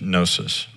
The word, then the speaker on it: gnosis: may be pro gonosis except the g is silent so it's gnosis pro no it's a